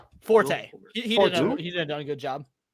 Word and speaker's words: Forte: Okay, Will Fort. Forte. He did a good job. Who? Yeah. Will Forte.